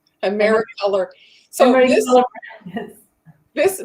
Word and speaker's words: Americolor: Emery brand. Am I saying it right? Americolor.